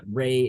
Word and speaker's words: Rey: So Rey, not Ren.